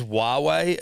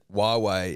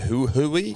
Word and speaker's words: Huawei: that which means that Huawei as a pronunciation usually throws the punter in the Dream well it does but not me no but a lot of people say who who we yeah but it did